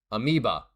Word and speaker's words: amoeba: Amoeba. Thank you. That does sound like the proper pronunciation. EA sound, not O sound.